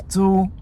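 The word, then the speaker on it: 租: seeding especially for Rice the pronunciation is "dzu" which kind of sounds like "zoo" and that right side looks like a cage you know like with monkeys and animals...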